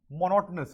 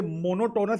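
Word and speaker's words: monotonous: ठीक है, तो ये मोनोटोनस नहीं है बेटा, मोनोटनस।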